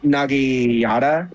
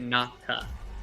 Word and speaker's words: naginata: the guards throws his Nagiyata. Is that how you say it? Naginata. Naginata. Naginata. It's all one word.